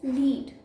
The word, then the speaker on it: lead: fifth word is this one of the pronunciations of this word is lead which means a metal for example lead is a poisonous metal the second pronunciation of this word is lead which means to guide uh for example she's